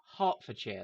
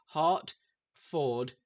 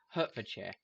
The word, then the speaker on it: Hertfordshire: Hertfordshire is how it's spelled, but it's pronounced Hertfordshire, like the thing you have in your chest or for Valentine's Day or whatever. Hertfordshire. Hertfordshire. Hertfordshire. And every American I've seen pronounce it Hertfordshire.